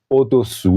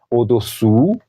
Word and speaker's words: au-dessous: Je peux encore prononcer ces deux prépositions. Au-dessous de, c'est-à-dire en bas, au-dessus de. Regardez la forme de ma bouche. au-dessous, au-dessus, au-dessus, ok?